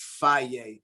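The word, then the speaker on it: Fage: they supposedly pronounced fire but it's called faj that's what i [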